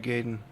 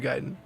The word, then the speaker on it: Gaiden: really even questioned it what if it is ninja gayen and not ninja giden no it's ninja giden it I've heard it I've heard it enough now that that's the only proper way to say it pixel junk monsters that's